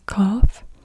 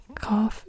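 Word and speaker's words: قاف: F then we have the cough and the cough is like a a q like it's it's a k sound but a deeper k sound deeper in the throat again I also can't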